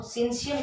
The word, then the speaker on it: syncytium: और इसको क्या कहा जाता है, वॉलेंट्री में इसको सेंसियम भी कहा जाता है। क्या कहा जाता है? सेंसियम। मैं बताती हूँ स्पेलिंग, SYN, दिख रहा है क्या?